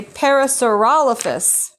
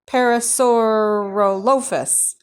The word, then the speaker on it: Parasaurolophus: they were there this one is called a Parasaurolophus Parasaurolophus that's it Paris hora here look Parasaurolophus I've said that dinosaur his name wrong all the time I always called it